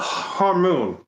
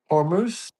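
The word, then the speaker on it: Hormuz: Blow up the straight of Hormone. Hormus. Hormus. I don't give a how it's pronounced.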